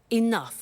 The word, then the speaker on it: enough: doesn't have enough money now this word enough enough it's written e.e.n.o you G H the pronunciation is enough what does it mean let